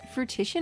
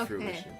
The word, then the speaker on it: fruition: oh is it fruit fruti or fruition no I mean it's spelled with the word fruit in it but it's fruition okay cool expanding my